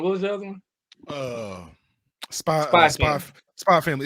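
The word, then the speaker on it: Spy × Family: Spy Family. It's Spy X Family, but it's pronounced Spy Family.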